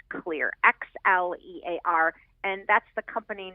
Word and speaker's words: Xlear: It's XLEAR. Yep. Even though it has an X, it's pronounced as a C.